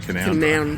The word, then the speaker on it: Canowindra: But pronounced Canowindra. Canowindra.